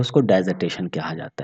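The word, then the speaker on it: dissertation: The word डाइजर्टेशन, कुछ लोग इसको डिजर्टेशन भी कहते हैं, अपना प्रोनाउंसिएशन डाइजर्टेशन, तो डाइजर्टेशन या डिजर्टेशन।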